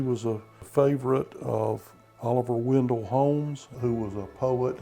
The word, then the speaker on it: Wendell: so people in town started saying we're from windale and now the community is called known as